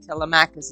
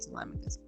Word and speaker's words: Telemachus: In fact, yesterday my nephew got on my case because I said Telemachus instead of Telemachus.